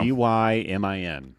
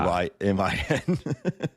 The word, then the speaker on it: Dymin: Dymin, which just learned a lot about Lance Lynn over this week. But Diamond sounds like it's spelled like a medicine. Yeah. Dymin.